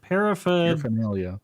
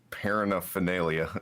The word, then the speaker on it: paraphernalia: Paraphernalia. Neilia, you said paranophelia or something.